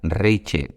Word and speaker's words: Reiche: por una señora llamada María reiche se pronuncia así en castellano que en buen día